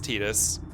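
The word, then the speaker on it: Tidus: So, the Japanese was definitely Tetus, but also as of Kingdom Hearts, we actually have an official pronunciation for his voice anyways cuz they say it in Kingdom Hearts as Tetus.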